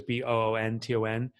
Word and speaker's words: Boonton: It's Boonton, but it's Boonton. If you're from from Boonton, New Jersey, you say it's Boonton. You swallow the letters.